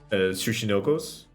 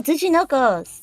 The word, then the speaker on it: Tsuchinoko: butcher the pronunciation. Sushinokos. Oh, hi, Mark. Oh, Tsuchinokos.